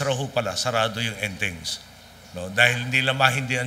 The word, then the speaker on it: Entings: Ang hindi lang puno ho yung restaurant na kinainan namin, ang pangalan Entings. Ang spelling ho, E-N-T-I-N-T-I-N-G-S. Ang pronunciation sa Bacolod ro, Enting.